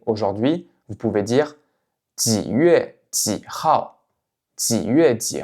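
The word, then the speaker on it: 月: Ici, faites bien attention. Ici, je ne prononce pas yue, yue. C'est yue. Donc vous voyez, c'est pas comme un accent aigu à la fin en français, c'est autre chose.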